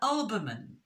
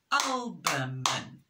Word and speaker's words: albumin: of the egg is called the Olbermann Olbermann three syllables and with the yellow